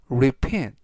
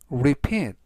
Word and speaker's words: repeat: 뜻이 되겠습니다 이번 단어는 repeat repeat repeat라고 발음하시면 되겠고요 이때 강세는 p 바로 뒤에 있는 e 알파벳 2의 강세가 있습니다